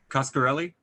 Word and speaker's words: Coscarelli: How you pronounce his name, Rick? Coscarelli.